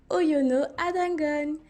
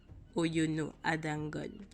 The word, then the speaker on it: Oyono Ada Ngone: l'histoire aujourd'hui ce créneau oyono à dongo et oui faites attention à la prononciation parce que le nom ne se prononce pas de la même manière qu'il s'écrit et oui et oui